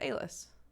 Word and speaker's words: Alice: is probably different and one of the pronunciations that we found was a-list and i was like i like that so i went with a-list that's it but it is it is spelled like alice i wouldn't say that